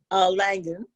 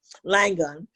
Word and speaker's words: Langone: So I applaud Langone. I'm not pronouncing that right. Langone.